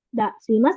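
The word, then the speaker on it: 出します: Kalau misalkan di depan masnya ada si-nya itu baru dibacanya Dasimas gitu. Kalau misalkan si-nya nggak ada berarti dibacanya Demas. Dasimas Demas gitu ya.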